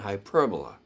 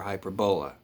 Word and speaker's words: hyperbola: And it was he who introduced the names ever since used for the three curves: parabola, ellipse, and hyperbola, or hyperbola. It's pronounced both ways.